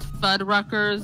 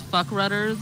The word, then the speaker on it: Fuddruckers: But apparently mispronounced Fuddruckers as fuck rudders, and now I've decided that fuck rudders.